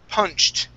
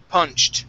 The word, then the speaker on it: punched: Okay, next up we have the word punched. Okay, the ED ending here. This will sound like a T. Punched.